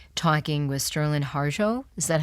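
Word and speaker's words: Sterlin Harjo: so great what was it like talking with sterland harjo is that how you say his name yes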